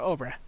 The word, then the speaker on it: Obra: Oh, I guess Obra is pronounced like Cobra. Oh, without the C. So Obra.